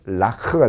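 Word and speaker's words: לָךְ: 거고 여성인 경우에는 트 그래서 으 발음이 들어가서 라크가 돼 레카 그래서 여기서 레크 그럴 것 같은데 레크 안 그러고 라크 그러는 거예요.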